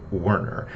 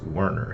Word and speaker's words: Werner Herzog: He pronounces it Werner. He, says his own name several times during the narration of that book, and he always pronounces his first name as Werner.